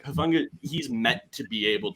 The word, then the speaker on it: Hufanga: I think you pronounce his name Hufanga.